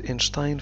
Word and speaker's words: Einstein: ينطق في العربية بأينشتاين لأن هذا الاسم أصله اللغة الألمانية، وفي الألمانية تنطق بشتاين، S و T تنطق ش.